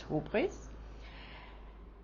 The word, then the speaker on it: hubris: A hero shows hybris, in English sometimes pronounced as hubris, by not accepting his God-given destiny, and this leads to a catastrophe.